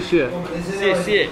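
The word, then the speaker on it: 谢谢: How do you pronounce it? Xie xie.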